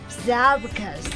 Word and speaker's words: Zabocus: and the name of the CD is called Zabocus. Am I pronouncing it right?